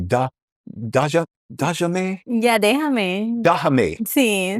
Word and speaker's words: déjame: Yeah, déjame.